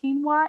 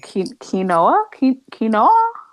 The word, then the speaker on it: quinoa: I like quinoa, and it's just weird how it's spelled. And I'm with you. I used to pronounce it quinoa, like quinoa. What? And it's quinoa. So yeah.